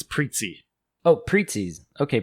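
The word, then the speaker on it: Prizzi: i did my best i think it's preetsy oh preetsies okay preetsy's honor okay well that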